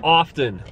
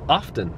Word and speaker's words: often: the tea is silent often is like when you kill someone in a video game you're offing them no no no no